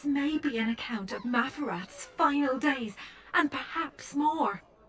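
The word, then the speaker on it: Maferath: This may be an account of Mafarath's final days, and perhaps more.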